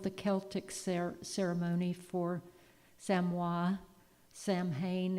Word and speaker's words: Samhain: Samhain is how we would pronounce it.